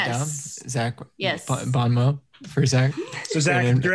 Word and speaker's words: bon mot: box wow thanks guys is it bon mo or bon mod bon mo but it's spelled bon mott cause it's french is as good as